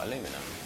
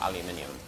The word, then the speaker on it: aluminium: of the trophies oh aluminum or aluminium man I literally I just use the American pronunciation of it because that's the pronunciation you hear so often um aluminium there's two eyes I think oh crumb